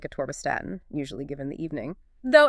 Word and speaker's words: Atorvastatin: Okay, next up, another cornerstone in cardiovascular health, Atorvastatin, Atorvastatin, pronounced Atorvastatin, and the brand name is Lipitor.